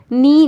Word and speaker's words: knee: Knee, knife, not now. Here K is silent.